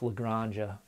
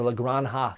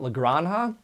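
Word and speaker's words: La Granja: did phenomenal work with Lagrangian or lagron ha sorry sorry uh I know you you've kind of busted me on that on PGG on my pronunciation but lagron huh oh it is so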